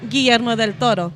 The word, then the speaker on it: Guillermo del Toro: Because I pronounce it correctly. Yeah. Guillermo del Toro.